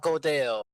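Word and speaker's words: Gödel: It's Godel. Godel. Yes. I hear go to hell.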